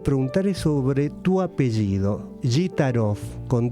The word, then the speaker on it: Gitaroff: Además se pronuncia Gitarov. Acentuando la primera I, Gitarov.